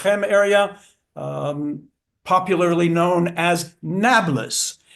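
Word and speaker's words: Nablus: um popularly known as Nablas. Nablas because the Arabs cannot pronounce Neapapolis.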